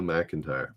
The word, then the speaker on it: McEntire: Her last name, I don't think anybody had it right, is spelt Mac, MC, and then entire, like the entire game or something.